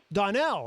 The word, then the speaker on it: Donnell: bring you back in is it Donald is that how you say her name Donnell okay all right very